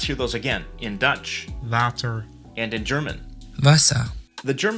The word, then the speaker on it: water: The Dutch W is pronounced differently. In the beginning or in the middle of the word, it's sort of between a V and a W sound.